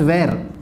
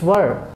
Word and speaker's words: were: Many people pronounce this one as where. It's not where, it's were. It's were.